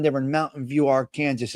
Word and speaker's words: Arkansas: You saw ass in Arkansas.